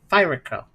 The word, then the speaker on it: Ferocco: Hey, this is an abrupt message from the game's developer, Ferocco, pronounced Fraco.